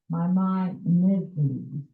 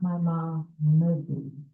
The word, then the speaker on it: Maimonides: very important to them, emphasizing that the second syllable ends with an N, not an M. So the correct pronunciation is Maimonides, not Maimonides. Okay? Got it? My mom is. Okay. Because it's a real Brooklyn thing to say my mom is, for whatever reason, but